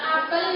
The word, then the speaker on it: apel: Apel yang pertama itu mengatakan buah, itu pelafalan fonemnya yaitu pada huruf E itu dilafalkan dengan pepet, sementara apel yang kedua pelafalannya pada fonem E-nya itu lebih terang dan bermakna upacara. Jadi antara apel sama apel itu pelafalannya, penulisannya sama, tapi pelafalannya berbeda pada fonemnya.